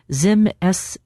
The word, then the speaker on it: Zimislecel: The experimental treatment is called Zimsel. I'm going to spell that. Z I M I S L E C E L.